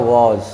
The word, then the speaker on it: vows: जैसे आप कहते हैं VOWS, इसका उच्चारण होता है वॉज।